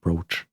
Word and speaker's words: brooch: And yes, I I know it's supposed to be pronounced brooch, but Buch is a lot more fun.